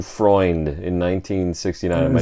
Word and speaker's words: Freund: Freund in 1969. Am I saying it right? Yeah. Freund.